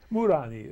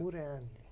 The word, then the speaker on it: Muranyi: In Hungary, it's a very, I wouldn't say it's a common name, but everybody pronounces it correctly. Okay. You know? Muranyi is the way they say it. Muranyi.